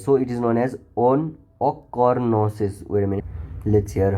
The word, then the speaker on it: ochronosis: So it is known as ochronosis. Wait a minute, let's hear how it is pronounced.